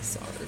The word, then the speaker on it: soldered: Never it's spelled soldered, but it's you say soldered, which is weird to me.